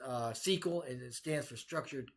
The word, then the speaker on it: SQL: be, so to speak, via SQL, which is pronounced SQL, and it stands for Structured Query Language.